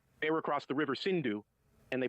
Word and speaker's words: Sindhu: They were across the river Sindhu, and they pronounced it Hindu.